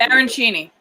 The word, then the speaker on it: arancini: How do you pronounce that, Jennifer? Arancini.